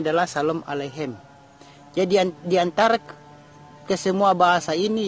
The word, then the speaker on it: Shalom aleichem: bahasa yang populer yaitu bahasa Ibrani yang populer pengucapannya adalah Shalom aleichem jadian diantara kesemua bahasa ini yang lebih populer